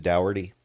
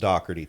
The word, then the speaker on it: Daugherty: Dockerty. Dockerty. I never knew that. If you looked at the spelling, you would pronounce it dowerty, but it's pronounced Dockerty for like the harsh Irish there.